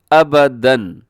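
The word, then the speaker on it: أبدًا: کے اوپر تنوین ہے، اور ہجے کرتے وقت آپ نے ساتھ الف کو نہیں بولنا، بلکہ صرف دال کے اوپر جو حرکات ہیں ان کو آپ نے پڑھنا ہے۔ تو دال 2 زبر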